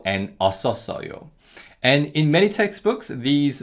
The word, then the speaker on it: 었었어요: Now, because of connective speech, the 쌍시옷 받침 in the first two syllables carry over to the following syllables. So they are pronounced 았었어요 and 었었어요.